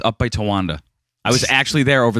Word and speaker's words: Towanda: tawand is pronounced correctly it has to be phonetically it is what it is right Towanda yeah that's the good thing about the Joanne